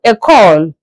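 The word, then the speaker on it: école: School is called a call. A call. E C O L E. I'm pronouncing in English E C O L E. That's a call.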